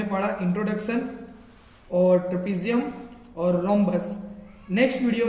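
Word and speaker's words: rhombus: जा रहे हैं यह रमस नहीं होता यह रमस नहीं होता यह होता है रोमस जिसके अंदर एच को हमें साइलेंटली पढ़ना है रोमस रोमस जो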